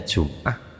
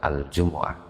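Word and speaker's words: الجمعة: Yang terjadi perdebatan kalau yang sudah mufakat enggak, kalau sudah mufakat enggak, bacanya Jum'ah apa Jumu'ah ya. Yang dipilih oleh Ibnu Abbas adalah Al-Jumu'ah wa asbidalika minat tathqili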